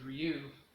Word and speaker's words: Ryu: I already knew the pronunciation of the name was Ryu, which stands for journey.